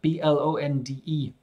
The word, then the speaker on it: blonde: two girls are blonde b-l-o-n-d-e they have blonde hair but if I were English I would say they have blonde hair I'm not pronouncing the r oh look there they